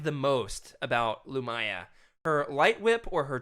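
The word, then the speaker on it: Lumiya: what oh it's lumaya am I saying it wrong lumaya yeah that's right thank you thank you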